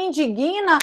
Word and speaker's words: indigna: não isso me indigna você carrega um dia o g mudo isso me digna eu não tenho uma sílaba formada com esse G você não fala quando você pronunciar isso me indigna como se fosse G ruim e não é isso me indigna hora quantos